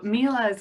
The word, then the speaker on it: Miele: market about the range of exceptional Miele appliances. And Jared, am I pronouncing Miele correctly?